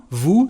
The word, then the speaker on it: vous: Vous venez, you come, vous. So we don't pronounce the letter S at the end, but we are going to pronounce it because we've got a liaison with vowels and mute H.